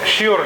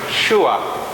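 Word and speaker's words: sure: পরের যে শব্দটা শিওর, এটা কিন্তু শিওর না, শুয়া। আমরা বলি যেটাকে শিওর, উচ্চারণ হলো শুয়া।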